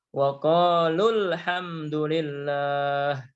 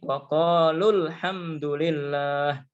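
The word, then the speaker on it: وقالوا الحمد لله: Kalau kita ingin dibaca dengan bacaan tidak panjang atau pendek, maka bacaannya tidak boleh berhenti. Langsung ya. Menjadi waqalul hamdulillah. Ya, menjadi waqalul hamdulillah.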